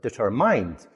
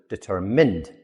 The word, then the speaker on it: determined: But when you look at it, it has mind in the middle. A lot of people pronounce it determined, but it's actually determined.